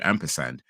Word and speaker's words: ampersand: original uh phrase but because people kept pronouncing it wrong it just became Ampersand and now that's the official way of saying it Ampersand so to me